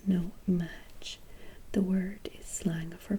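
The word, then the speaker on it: No-Maj: fantastic facts what is a no match pronounced no match the word is slang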